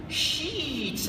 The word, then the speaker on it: sheet: is fun this is sheets of silicate i have to say the word sheet with a long e because otherwise if i make it too short that sounds like a different word sheets of silicates where